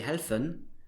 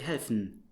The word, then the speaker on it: helfen: You don't say helfen, but you say helfen, fn.